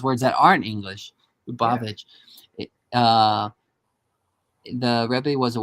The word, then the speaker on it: Lubavitch: Agudas Hasidai Chabad of the United States for Congregation Lubavitch. Yeah. Is that how you say that? Well, yeah, Lubavitch. see, I can pronounce words that aren't English. Lubavitch.